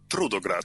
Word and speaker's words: Trudograd: into So, as we're talking I want to pronounce this correctly, I hope. Trtograd. Is that how I would say it? Trudto.